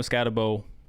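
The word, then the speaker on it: Skattebo: I do enjoy Scatabo by the way we've been butchering his name uh Cam Scatoabo and now seeing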